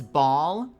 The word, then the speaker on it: Baal: Like AW, it's not even Bal, it's Ball.